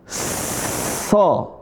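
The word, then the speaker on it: ص: Kalau ini so. Yang ini sama cara bacanya. Cuma bedanya ini sa tipis, ini so, ada o tebal, so.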